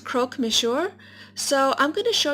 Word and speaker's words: croque monsieur: here it looks so good I believe it's pronounced croque monsieur so i'm going to show you everything you